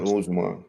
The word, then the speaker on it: Usman: How you pronounce this goddamn dude name, man? Kumara Usman? Yeah, Usman.